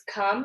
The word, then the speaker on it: come: a little bit different it's come and we don't say the e on the end member this is a silent